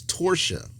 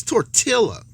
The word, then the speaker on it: tortilla: No, that's torsia. Tortilla is Tortilla. Oh, that's not tortilla. That's tortilla, like gorilla. Yeah, well, it's tortilla, just like quesadilla.